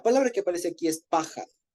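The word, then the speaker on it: פחד: Paja, como paja, pero con D al final. Paja. Y con acento en la primera A.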